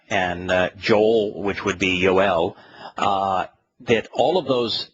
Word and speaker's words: Joel: job and uh and Joel which would be yoel uh that all of those names are uh